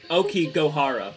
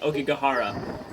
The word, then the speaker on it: Aokigahara: in the entire world Okie gohara is how you pronounce it I've been saying okigahara okigo Hara and to be honest